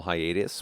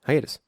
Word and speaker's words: hiatus: hiatos pronounce it hiatus hius hiatus yeah hius hius what are you saying hius hius hius like Titus but hius Titus don't say Titus no it's Hiatus damn I'm sorry the